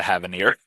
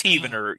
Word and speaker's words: Heavener: So, I think I've gotten scolded for calling it the Havanir. okay. So no, it's Heavener.